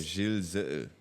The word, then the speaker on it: Gillezeau: De Gillezeau. Let's go. Apparently that's how you pronounce my name in proper French. I do Gillezeau.